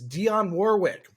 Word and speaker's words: Dionne Warwick: It is Dionne Warwick.